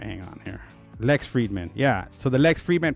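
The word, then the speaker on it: Lex Fridman: With Frex Liedman, I think. I misspelled that guy's name. I mispronounced it. All right, hang on here. Lex Friedman.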